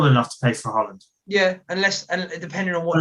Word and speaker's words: Haaland: I went to uni with Norwegians. It's Haaland.